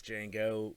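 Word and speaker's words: Django: ] like Jamie Fox Jango met uh the original Dude the de is silent you know oh man that was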